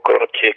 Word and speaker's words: Croce: Y luego Croce, que es C-R, Croce, yo digo. Sí, es como se pronuncia en italiano, pero es Croce.